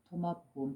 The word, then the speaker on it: 도마복음: 그래서 제가 앞전에 한번 나가 한마디 경전에서 나온 도마복음, 토마라고도 하죠. 그래서 토마복음 또는 도마복음 발음상의 차이일 뿐이지 한 분이죠.